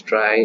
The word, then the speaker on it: Trie: So today we are going to solve this lead code problem 208 which is uh implement try pronounced as try and it's a prefix